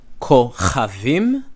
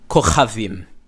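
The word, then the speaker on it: כוכבים: So if I say, like if I say Kochavim, which are stars, that'll be the same as me saying Choshek, which is darkness. And it isn't. Choshek, darkness, Kochavim. It's for you to know what the person said.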